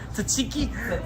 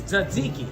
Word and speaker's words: tzatziki: Why'd you say tzatziki and not tzatziki? That's how you say it. Tzatziki? No, it's tzatziki. Yeah, the T's that tzatziki.